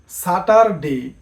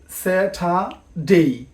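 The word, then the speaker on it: Saturday: টিউসডে ডেই আমরা বলে থাকি সাটার ডে কিন্তু এটারও সঠিক উচ্চারণ হচ্ছে স্যাটাা ডেই স্যাঠা ডেই এরকম আরো অনেক আকর্ষণীয়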